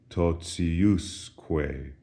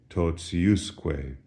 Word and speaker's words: totiusque: as a result, the pronunciation of ti is no longer t, as in totius, but rather it softens. We have an S in between the T and the I, and so it sounds like this, totiusque.